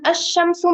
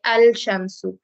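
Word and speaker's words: الشمسُ: لام تعریف آتا ہے, تو ہم اس لام کو پروناؤنس نہیں کرتے. یہ لام لکھا جاتا ہے لیکن اس کو تلفظ میں نہیں آتا, یعنی اس کو ہم بولتے نہیں ہیں. ہم اس کو یہ نہیں کہتے الشمسو, ہم شین تشدید کے ساتھ پڑھتے ہیں الشمسو, اور یہ شین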